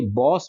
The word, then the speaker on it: boss: क्योंकि बहुत सारे ऐसे वर्ड्स हैं जैसे कि BOSS, ये बॉस बोलते हैं हम इसको हम बॉश नहीं बोलते, है ना, इसका उच्चारण सही होता है बॉस।